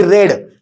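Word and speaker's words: read: लागतो आणि रीडचा असतो रेड स्पेलिंग सेमच आहे उच्चार करायचा रेड मात्र चाचा उच्चार रेड करायचा लक्षात ठेवायच जे वाचता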